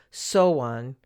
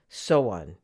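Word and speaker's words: Samhain: in particular the gaelic festival of so on which is spelled s-a-m-h-a-i-n so on looking at the celtic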